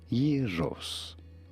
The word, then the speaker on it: gyros: In Greek, it is said as yerros. Yerros. The G is not pronounced like a G, but rather Y.